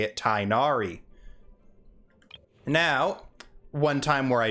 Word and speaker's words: Tighnari: the right letters the right way to properly pronounce i'm going to go with tignari as it is closer to the correct pronunciation than tynari i believe his voice actor will however say it tainari now one time where i do side with